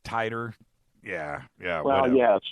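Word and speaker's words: Titor: think he's the second is it Teeter titer how they pronounce it oh the guy that calls himself titer Yeah Yeah well yeah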